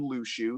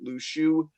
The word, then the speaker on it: Luxu: and completely covered up just like him, named Lushu, who I mentioned. It should be pointed out his name is spelled Luxu.